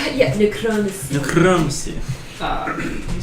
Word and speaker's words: necromancy: It's pronounced necromancy. Yeah, necromancy.